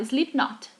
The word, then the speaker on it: Slipknot: A gente não fala o K, a gente fala Slipknot, tá?